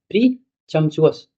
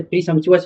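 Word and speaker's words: presumptuous: प्रीचम्पचुअस, वैसे प्रीशम्पचुअस होता है तो प्रीशम्पचुअस।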